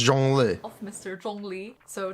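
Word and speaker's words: Zhongli: right y'all yeah it's Jung Le Mr Jung Le so J Le's name I think the hardest thing is the first character right joh so starting with the zh sound it's kind of like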